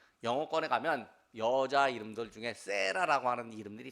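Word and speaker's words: Sarah: 영어권에 가면 여자 이름들 중에 세라라고 하는 이름들이 참 많습니다. 세라. 근데 이게 원래 사라라는 말을 이제 영어식으로 발음하면 세라입니다.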